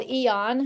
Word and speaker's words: AEON: There is a patch called Eon. Hate the way it's spelled, but it's AEON.